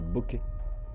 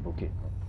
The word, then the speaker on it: bokeh: C'est un bokeh. Je suis pas sûr d'avoir enchaîné. Comment ça se prononce, ça s'écrit.